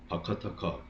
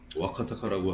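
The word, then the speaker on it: Vakataka: 밑에 보이는 건 바카타카, 와카타카라고 하는데요. 본발음은 와카타카.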